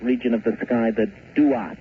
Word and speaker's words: Duat: The ancient Egyptians spoke of a special region of the sky, and they called that region of the sky the Duat. It's spelled D-U-A-T when you transcribe it into our alphabet.